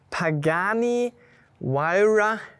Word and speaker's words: Pagani Huayra: Pagani Huayra BC. Habe ich das richtig ausgesprochen für Ja, dich?